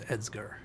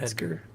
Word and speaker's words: Edsger: no it isn't it's it is edsger I saw that once with this guy's name it's uh not Edgar I took the shortest path between the E and the r and that